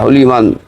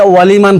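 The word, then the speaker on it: لمن: তখন এই সামি আল্লাহু লিমান হামিদা এই হলিমান উচ্চারণ হামিদা করতে বলতে হবে, অনেকে আল্লাহু ভুল হলিমান, করেন। হলিমান না, অনেকে আমরা অনেকে হলিমান, অনেকে হুলিমান, অনেকে ওয়ালিমান পড়ে, দুইটাই ভুল।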